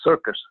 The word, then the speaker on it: CIRCESS: So in the beginning, we named it the Central Illinois Regional Center of Excellence for Secure Software, CIRCESS, which pronounced as circus.